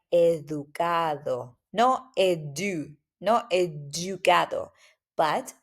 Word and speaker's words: educado: Also, here, the D, make sure that the pronunciation is like a TH in English, which is super soft, like educado.